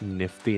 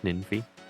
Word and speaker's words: Nymphy: I love how like a lot of people mispronounce my name as Nifty instead of Ninfy.